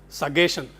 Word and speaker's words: suggestion: Similarly, somebody said suggestion. Suggestion. In many other words, where there is a double G, you pronounce it as ga, bigger, biggest. Why not suggestion?